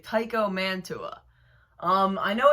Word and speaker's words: Mantua: But there's also the phenomenon known as Manitoua. For some reason, there's a small group of people that decide to add an extra A into the word.